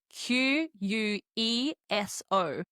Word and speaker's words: queso: cheese in Spanish is I'm making the K sound, but it is written Q U E S O. Go. Now notice I'm not pronouncing it like the English word queen. No, this is incorrect. We're pronouncing it like the letter K. Queso.